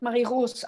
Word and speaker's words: Marie Rose: Mein Name wird Marie Rose ausgesprochen. Das E wird nicht ausgesprochen.